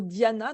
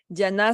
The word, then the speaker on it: Dhyana: Donc c'est le 7e membre du yoga sur les hinscrit le mot Diana, donc ça s'écrit D H y A N A.